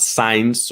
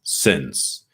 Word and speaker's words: since: for and since now listen carefully with the uh pronunciation sin let me put the microphone nice and close here sins all right not signs or SS or anything it's since so you have for and